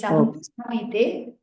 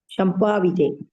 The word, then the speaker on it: संभाविते: It is Sambhavite. Shampavite.